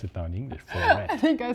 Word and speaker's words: Florett: And eventually a Kreidler Florett turned up, and I also paid attention to the look.